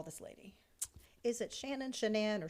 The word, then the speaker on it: Shanann: it shannon shenan or shanann from what i gathered shenan okay because her stepmom called her shannon well now for her mama the first time i ever heard it i thought they are not pronouncing this correctly but then i heard her mother say shenan and i thought well she gave birth to her so she knows well i heard her say